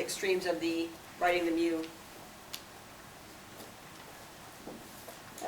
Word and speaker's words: mu: Mu, pronounced just like the Pokemon Mew, denotes the mean of all values in a population.